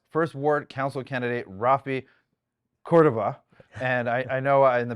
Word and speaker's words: Cordova: No, that was perfect. Cordova.